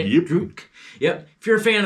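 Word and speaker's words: Drudkh: Drutk.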